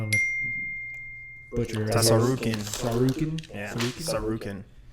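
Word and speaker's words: Tsarukyan: Sarukin? Yeah, Sarukin. I think the T is silent.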